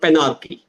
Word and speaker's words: Panarchy: And I also take a minute to explain uh, a terminology which everybody should understand called penarchy. Now, penarchy is spelled as Panarchy.